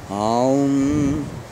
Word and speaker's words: Om: In Sanskrit, this hum is pronounced by chanting Om. I know, it's hilarious, but it's true. Making the im long and feeling the resonance in the head. Aum. Aum.